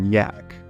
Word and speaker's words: Jack: referred to him as Captain Jack which they pronounced cap Yak or Bravo too much